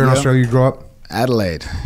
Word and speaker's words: Adelaide: in 1991 where in Australia you grw up Adelaide Adelaide correct pronunciation there as well right on Echo Charles